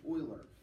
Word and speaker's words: Euler: the kings Leonard Euler all right that's Euler pronounced Euler lived in the 1700s all right he's born